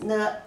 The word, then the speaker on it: 内: It is written like this currently, and the pronunciation is ne a ne, false tone, means inside.